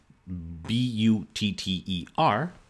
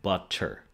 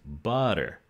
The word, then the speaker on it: butter: same sound for example in english the word b-u-t-t-e-r for what you spread on bread has a t in the middle but it's it is not pronounced butter it is pronounced butter at least in um american english butter so